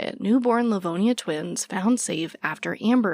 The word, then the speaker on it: Livonia: Livonia Livonia, okay, I said it right.